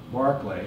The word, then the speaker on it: Berkeley: not in the essay Barclay that's how you pronounce it British independence of course were